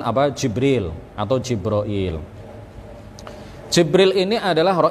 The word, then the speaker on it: Jibril: bisa juga kita mengatakan jibroil Iya bisa juga kita mengatakan jabril atau Jibril atau jibroil atau ada ada juga